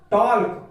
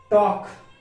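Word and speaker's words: talk: तो देखिए टॉल्क, वॉल्क, चॉल्क, यॉल्क, folk, लेकिन यह गलत हो जाता है। तो हाँ यहाँ पर एल साइलेंट है क्योंकि के पहले आ रहा है। यदि डी एफ के एम कोई भी वर्ड यदि इन वर्ड के पहले यदि एल आता है तो वह साइलेंट रहेगा। तो यहाँ पर देखिए इसको क्या पढ़ा जाएगा? टॉक, वॉक, चॉक, यॉक और क्यों फॉक।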